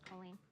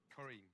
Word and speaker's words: Colleen: My name is Colleen. Colleen. Kareem. Colleen. What do you do for a living? Just accept the name Gordon gives you even if you pronounce it just wrong.